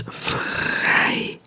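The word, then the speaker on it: vrijdag: so these two together make an i sound it's more like a like a very long I it's like an A A A like an Australian accent a a i you know so it's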